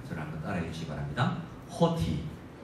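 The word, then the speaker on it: ὅτι: 이 헬라어 세 단어는 OTI처럼 적혔는데요, 발음의 위에 있는 이 표를 하면 O가 호가 됩니다. 그래서 이렇게 읽는 거예요. 저를 한번 따라해 주시기 바랍니다. 호티.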